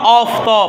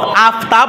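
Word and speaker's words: آفتاب: আচ্ছা, অনুরূপভাবে মনে করেন, তারপর মনে করেন এটা বলবো আমরা অফতব। কি বলবো রে? আফতাব বলবো না, কি বলবো? অফতব। ঠিক আছে? এটার উচ্চারণ কি হয়? অ হয়। এটার উচ্চারণ ফার্সিতে আ হয় না।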